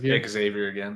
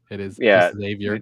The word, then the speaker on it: Xavier: Xavier again. It's not Professor X. It is Xavier.